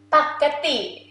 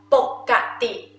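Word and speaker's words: ปกติ: Or sometimes Thai people, they pronounce pokkati. Okay, two of this also correct, same meaning. Pakkati, you think about spaghetti. I feel like this sound is like spaghetti.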